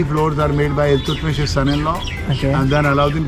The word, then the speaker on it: Iltutmish: The full name is Shamshuddin Iltutmish. Okay. I don't pronounce that name. Iltutmish. Iltutmish. Iltutmish. Iltut. Okay. Tut for teeth.